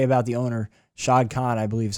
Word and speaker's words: Shad Khan: The one thing I'll say about the owner, Shad Khan, I believe is how you pronounce his name.